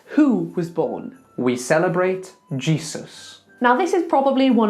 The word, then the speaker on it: Jesus: Then Z, a voiced S, Z, more like a Z. G, Z, us, like us together with an unvoiced S. So the whole thing, Jesus.